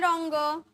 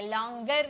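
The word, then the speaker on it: longer: तो let them run a little लॉन्गर, a little लॉन्गर। लॉन्गर नहीं बोलेंगे, लॉन्गर नहीं, लॉन्गर। रॉ जो है लास्ट में जो आर होता है ना, इसकी प्रोनाउंसिएशन हाफ में की जाती है, ठीक है।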